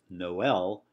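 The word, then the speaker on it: Noël: a long Oh whereas Noel with the diaeresis pronounced in two syllables is you know the synonym for Christmas so that may again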